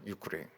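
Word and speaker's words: Ukraine: 우크라이나를 영어로는 유크레인이라 이러거든요. 유크레인.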